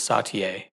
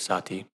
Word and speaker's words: Satie: saw his name written, and assumed it was Satie, and then discovered yesterday that most people agree it is Satie.